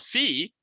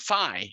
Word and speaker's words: phi: sometimes people calling it fi because that's what. Sab Matsumoto: It is often pronounced in America, you know, like if you have a Phi beta Kappa or something that's not fee beta Kappa right so.